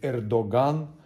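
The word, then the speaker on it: Erdoğan: И на каждом Эрдоган, правильно говорить, Эрдоган, вот так с рукой.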